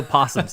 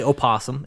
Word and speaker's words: opossum: You know, possums. You don't say the O. You don't have to say opossum. It's possum.